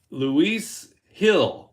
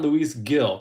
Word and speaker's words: Luis Gil: So Luis Hill is how it's pronounced, not Luis Gill.